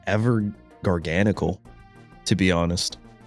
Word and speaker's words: Garganacl: aka Jargonsaw. I know some of you guys so mad at my Jargonsaw pronunciation, but unironically, that was the how I first pronounced this Pokemon when I first saw it.